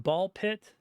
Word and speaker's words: Ball x Pit: I assume it's pronounced ball pit. The game has an X in the middle. That means you don't read the X, right?